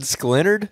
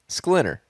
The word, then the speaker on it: Schlinner: You said Schlinard? Schlinard. Like Leonard Schlinard? How do you say his name? Schlinner. There's no D on the end.